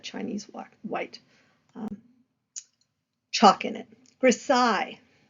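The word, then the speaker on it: grisaille: white Chalk in it grasai so yes it has a weird pronunciation precise from the French so you would produce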